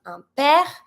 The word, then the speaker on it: père: If you want to say a father and a mother, we're going to go from un père to une mère.